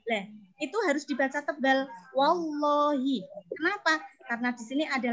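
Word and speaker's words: والله: Lah, itu harus dibaca tebal wallahi. Kenapa? Karena di sini ada lam jalalah lafal Allah yang sebelumnya ada huruf wawu tadi berharokat fathah. Jadi bacanya wallahi, enggak boleh walihi.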